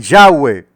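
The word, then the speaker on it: Yahvé: el antiguo testamento hebreo se escribe simplemente con cuatro letras que pronunciadas dicen ya ve hoy en europa y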